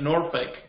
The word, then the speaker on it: Norfolk: I think they're pronounced like Norfolk.